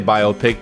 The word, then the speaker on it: biopic: a biopic episode biopic how do you say the word biopic um i like to say biopic but i also say biopic sometimes let's switch it like envelope